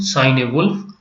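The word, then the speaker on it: Cynewulf: a wolf and sign you can take the word uh for almost the same meaning or pronunciation sign a wolf he was the first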